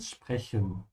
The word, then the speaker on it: sprechen: Yeah, just keep your mouth open, sprechen.